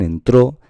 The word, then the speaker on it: entró: Pues bien, en este caso, en esta primera palabra, entro, aquí está la fuerza, la intensidad está en entro, está la sílaba tónica, y aquí en entró, esta es la sílaba tónica, porque es la que lleva con la tilde.